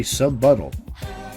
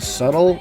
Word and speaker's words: subtle: Gia calls him out for scaring Marie, and Kanji agrees, saying he's not being very subbuttle. This stuns everyone, and we find out Kanji thinks the word subtle is pronounced subbuttle.